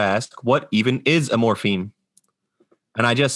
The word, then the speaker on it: morpheme: We're not talking about the chemical substance morphine, spelled with I-N-E. The word is morpheme, M-O-R-P-H-E-M-E.